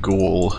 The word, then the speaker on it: ghoul: I say Gull or whatever, whereas it's supposed to be like Ghoul or something.